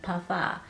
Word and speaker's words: parfum: Parfum. Y'all be getting on me and telling me M is silent in parfum, okay?